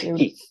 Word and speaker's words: Heth: pronounce names properly so the Canadian can't pronounce Heth y correctly it's Heath it's Heath um no but there's